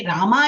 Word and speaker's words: ராமா: கொண்ட மந்திரம் என்று குறிப்பிடப்படுகிறது எனவே ராமா என்பது பொருத்தமான உச்சரிப்பு ராம்னு சொல்லக்கூடாது அப்படின்னு கொஞ்சம் கான்சியஸ் எப்போ போட்டா போதும்